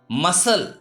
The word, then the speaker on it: muscle: Next, muscle. MUSCLE. Here C has come after S, it's why C is silent.